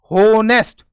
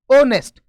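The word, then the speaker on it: honest: अब जैसे बहुत सारे लोग इसका उच्चारण करते हैं होनेस्ट, हा की आवाज निकालकर पूरे का पूरा ही इसको बोलते हैं, लेकिन इसकी वजह से एग्जाम में गलती हो सकती है। इस चीज को हमें सुधारना है। एच के बाद में ओ है, इसमें ध्यान रखना है एच साइलेंट होता है, यानी ये उच्चारण नहीं किया जाता।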